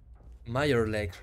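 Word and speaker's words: Mirelurks: Meyerlurks, sí, se pronuncia así en serio.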